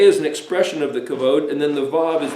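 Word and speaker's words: כבוד: root word then is cough bet dalit that's pronounced kavod and it means honor glory weighty regard so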